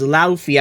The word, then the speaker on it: Luffy: Number four is is is Luffy. I don't care how anyone pronounces it. It's pronounced Luffy cuz that's how the English lexicon would pronounce it.